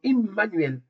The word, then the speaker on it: Immanuel: Si si la voyelle c'est I, ce sera I comme Immanuel parce que Immanuel hein parce qu'on dit Emmanuel mais c'est immanuel.